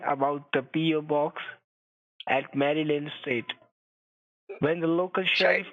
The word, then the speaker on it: Maryland: They call it Maryland. Maryland. No, Maryland. That's how the locals say. My husband was originally from Maryland. Maryland. Okay. Like a mermaid.